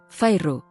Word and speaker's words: Feyre: Soltó las dos sílabas de mi nombre Fairru, en el gemido más horrible que jamás había soportado.